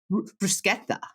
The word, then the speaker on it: bruschetta: say it correctly and how is the right way to say it bruschetta yeah I don't know